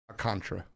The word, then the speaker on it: Alcantara: Alcantara. I've been saying it wrong forever.